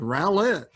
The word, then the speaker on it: Rowlett: And this is Rowlett. Am I saying that right? You did say it right. Good job, Rowlett. You know, a lot of people get my name wrong too.